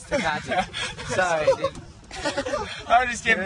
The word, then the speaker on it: Tecate: how do you pronounce it? Tecate, dude. It's a Mexican thing. Tecate. It's Tecate.